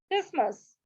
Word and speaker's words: Christmas: So here sometimes the word T, when talking fast, silent letters like T are very lightly pronounced. Christmas, mountain, little.